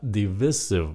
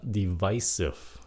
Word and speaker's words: divisive: Chữ này phát âm là divisive, mà gần đây nhiều người phát âm là divisive.